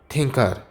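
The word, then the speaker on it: Tkinter: Python provides a library for developing GUI and games, namely Thinker. ये दो तरह की प्रोनाउंसिएशन है, ठीक है, इंटर भी कहते हैं, थिंकर भी कहते हैं इसे जी।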